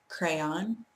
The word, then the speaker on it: crayon: And we have ruin, that's 2 syllables, and crayon, also 2 syllables.